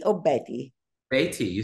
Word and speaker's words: Beaty: again when you go and see Daniel KOA bitty or Betty Betty you said it right yeah okay yeah at